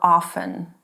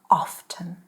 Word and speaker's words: often: Often or often? Actually, both are correct. I like often.